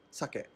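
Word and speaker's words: 鮭: starting with the name this Japanese word for salmon is sucking like the alcohol but with less stress on the first syllable sucker Olson instead turned to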